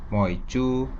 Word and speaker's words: 梅: dibacanya moyan sementara me dalam bahasa hak dibacanya MOU sejak dulu Kabupaten moyan